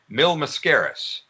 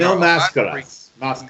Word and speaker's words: Mil Mascaras: He had, if I can pronounce his name correctly, Mil Mascaras, Bobo Brazil. I mean, Mil Mascaras.